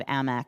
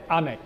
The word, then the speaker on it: AMEC: amec amec definitely Amic I would pronounce it amec for the simple reason that it's an acronym a-n-e-c just in the